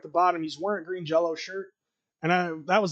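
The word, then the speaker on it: Green Jellÿ: it correctly it's not green jelly it's green jell the Y sounds like an o because of the little two dots on the top of it they had to [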